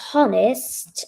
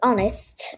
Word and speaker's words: honest: Not we won't, but We want your honest opinion. what happens to the H in that word? Oh, honest opinion. Yeah, silent H. We often have silent H's in English, just to confuse you.